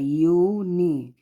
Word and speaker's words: university: तो यूनिवर्सिटी में यू पहले है लेकिन इसका प्रोनाउंसिएशन क्या है, यूनी।